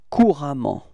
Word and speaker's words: couramment: Repeat, courant, okay, and it will transform into couramment. Repeat, couramment, okay. So actually the same pronunciation, but then you've got to write this A for this case, okay.